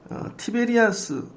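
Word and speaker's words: Tiberias: 그래서 로마가 통치하는데 이 게네사렛 호수 갈릴리를 티베리아스, 이 로마식 발음이 티베리아스예요.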